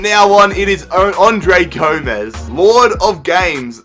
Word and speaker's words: Gomes: Nicholas says it's Gomez, not Gomes. Yes, I did have a lot of questions last episode, or a lot of comments rather, paying me out about the way I pronounced Andre Gomes. I said Andre Gomes, but it really is Andre Gomez.